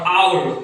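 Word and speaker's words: hour: এই লেটারটা বা এই অক্ষরটা উচ্চারণ হচ্ছে না, তার জন্য এটাকে আমরা বলবো সাইলেন্ট লেটার।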